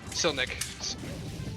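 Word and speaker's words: Čilić: how cilic said it still nick still i said silicon in my head for some reason like for the longest time still nick is probably the correct pronunciation of it sorry for butchering your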